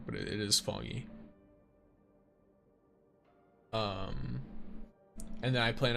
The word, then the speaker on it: Fangyi: Keep pronouncing her name wrong, but it is Fangyi.